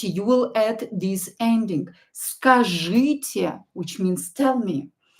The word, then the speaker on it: Скажите: Скажите means tell me.